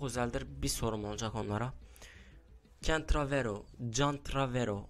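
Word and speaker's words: CanTravero: Kentravero, Can Travero. Hani benim kanalımın ismi Kentravero diye okunuyor. Can Travero diye yazılıyor. Bir isim değiştirmeyi düşünüyorum.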